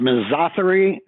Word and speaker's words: misotheria: Yes, I think it should be pronounced misotheria, sort of rhyming with misogyny.